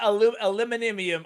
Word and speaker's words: aluminium: You call it aluminium.